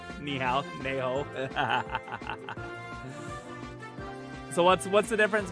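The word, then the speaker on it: 你好: Neho. Ni hao.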